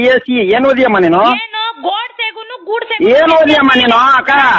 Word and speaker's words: ಗೋಡ್ಸೆ: ಕೊಡೋದು ಮೊದಲು ನೆಟ್ ಗೆ ಗೋಡ್ಸೆ ಜಿ ಅನ್ನೋ ಹೆಸರನ್ನ ಗೂಡ್ಸೆ ಗೂಡ್ಸೆ ಅಂತ ಹೇಳಬೇಡಿ ಗೊತ್ತಾಯ್ತಾ ನಿಮ್ಮ ತಲೆ ಒಳಗಡೆ